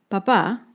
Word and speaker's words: papá: Con la segunda palabra, papá, tiene tilde, que indica que el acento está en la última sílaba, papá.